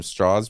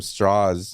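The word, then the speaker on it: Strauss: one of the scenes that you're seeing from Straw's point of view IM immediately when he meets him he's he like corrects him on the pronunciation of his name he calls him straws and he's like it's actually pronounced straws you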